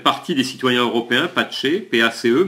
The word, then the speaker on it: PACE: Eh bien Maryse, le parti s'appelle Parti des citoyens européens, PACE, P-A-C-E, mais ça se prononce PACE comme la paix.